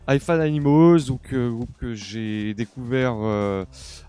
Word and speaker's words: Hi-Fi Animals: assez puissant du groupe Hi-Fi Animals. Donc je le prononce en anglais, je trouve ça plus cool. Hi-Fi Animals, donc groupe que j'ai découvert à la fois sur Hoover et également sur les réseaux.